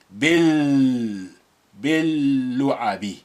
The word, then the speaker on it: باللعب: Now, the lam has been suppressed because of that, and alif of al is quiet, is silent because you have this ba, which is kasra b. So you're just linking the b with the first embedded lam, which has sukun on it, bil or bil, so lu. That's why we are strengthening the pronunciation of the lu.